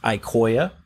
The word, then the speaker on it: Iqoya: are not that many there's really two it's pronounced icoia crosslink and servlink these are hardware codecs you